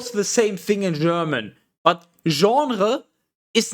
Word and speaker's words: genre: see it you would as a german without any prior knowledge you would spel sorry he would not spell he would pronounce it general general but it's genre and in english it's genre which is almost the same that's just like that's